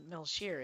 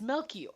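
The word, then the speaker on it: Melchior: I was like, "Oh, it's not Melir, it's Wait, is it C H I R?" Yeah, it's Melor.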